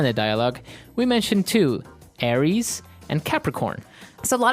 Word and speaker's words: Aries: greek mythology that's right and uh so it's pronounced aries aries a-r-i-e-s aries that's right and the other one is